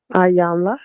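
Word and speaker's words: Iyanla: Ayanla.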